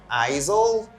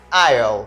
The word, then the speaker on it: aisle: me guys say ayo here the letter s is silent we don't say Isle we don't say Isel we say IO all right the right pronunciation is aisle can you say that